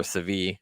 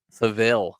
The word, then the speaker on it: Seville: out a 2-1 victory over sevie right that's how you say it Seville Seville I was close uh in the